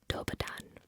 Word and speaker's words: Dobar dan: Let's start with Dobar dan.